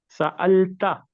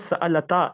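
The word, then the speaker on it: سألتَ: So you are not pronouncing it correctly. It is sa'alta. سألتا. It's not sa'alata. It's sa'alta.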